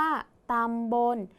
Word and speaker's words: ตำบล: แม่ ก กา และ คำ ว่า บน ตัว สะกด คือ ล ลิง แต่ ออก เสียง พยัญชนะ ท้าย เหมือน น หนู ดัง นั้น คำ นี้